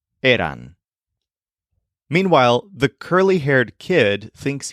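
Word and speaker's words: eran: away their word is aan you still emphasize the part of the word that sounds like air but the word ends with what sounds like ran as in ran away Aon meanwhile the curly-haired kid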